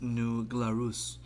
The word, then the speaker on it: New Glarus: touch right there man it's pronounced New Glarus I just made that